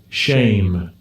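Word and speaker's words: שֵׁם: But look at how it's pronounced. Strong's H 8034. Shame.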